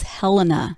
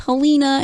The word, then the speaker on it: Helena: yes but the state capital is Helena it's not Halina it's not Hellena it kind of snarky